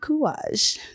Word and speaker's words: Kouraj: I'm your vocal athlete, Kuage.